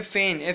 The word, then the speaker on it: feign: फिर इसके बाद आपके पास वर्ड, नेक्स्ट वर्ड बुक में फेन, FEIGN फेन, FEIGN फेन. इसमें आपके पास G लेटर जो है ना ये साइलेंट है, FEIGN फेन.